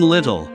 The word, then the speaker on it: little: But in title, the first syllable is ti, pronounced tie, and the second one is tle.